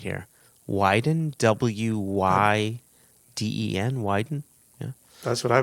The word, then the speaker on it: Wyden: member ron i've got to make sure i'm pronouncing his last name right here widen w-y-d-e-n wyden yeah that's what i would go with